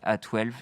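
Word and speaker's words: X Æ A-12: La suite est due au créateur de Tesla et se prononce comme tel, A12, qui fait référence à, je crois, son modèle de jet favori.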